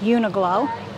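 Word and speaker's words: Uniqlo: have a store here called I think it's pronounced uniglow it's a clothing store and this is an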